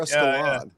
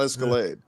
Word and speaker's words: Escalade: uh nobody buys catalogs you're escalad not escalade so yeah whatever point